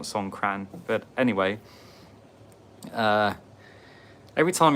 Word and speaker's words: Songkran: Every time Songkran's on, they say, by the way, K over here is pronounced with a G, so it's like Songkran, not Songkran.